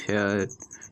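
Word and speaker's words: fare: জি এইচ T night এ এর পরে যদি আর এবং তারপর ই অর্থাৎ কোন ওয়ার্ডের শেষে যদি এ আর ই থাকে তবে উচ্চারণ হবে এ যেমন এফ এ আর ই ফেয়ার ডি আর ই ডর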